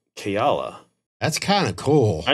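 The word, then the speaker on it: Kaela: it up later and it's like Hawaiian origin and it's pronounced keala that's kind of cool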